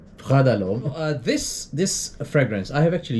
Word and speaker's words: Prada L'homme: Let's pronounce it first. Prada L'homme. Prada L'homme.